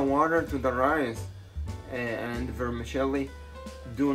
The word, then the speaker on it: vermicelli: call it in egypt but uh the italian pronunciation is vermicelli and it is one pound of vermicelli some people say vermicelli vermicelli vermicelli uh you choose but uh this